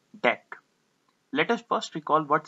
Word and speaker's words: deque: about double ended Q in short it is pronounced as deck let us first recall